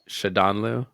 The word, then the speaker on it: Shadanloo: this before we started how do how do I pronounce your last name shadon or shaanu shadon yeah yeah that's that's perfect and by the way